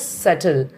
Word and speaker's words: subtle: Next one is subtle. That is the spelling. The spelling is S-U-B-T-L-E, but we are pronouncing as a subtle.